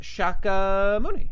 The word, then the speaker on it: Shakyamuni: Okay, and it's also pronounced Shakyamuni.